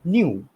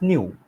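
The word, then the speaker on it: ν: This is called nu. So this symbol is known as nu. So this symbol is pronounced as nu.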